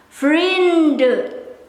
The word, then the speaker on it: vrienden: For myself, I will pronounce the letter N in order to skip the silly mistake when I have to write.